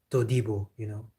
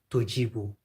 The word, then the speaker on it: Todibo: But they really like to pronounce D like G. I don't know why. Like Jean-Claire Todibo. You see, Jean-Claire Todibo. In English I would say Todibo. But French they really like to say Tojibo.